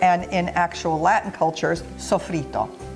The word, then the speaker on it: sofrito: Now, this is called in Italian culture and in actual Latin cultures, sofrito. Pronounce it a little differently in both languages, but it's sofrito.